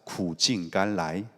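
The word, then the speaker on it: 苦尽甘来: 제가 또 중국어를 잘한다는 의미에서 여러분에게 본토 발음으로 한번 본을 보이겠습니다. 고진감래는 우리말이고요. 함께 따라했으면 좋겠습니다. 구진간라이.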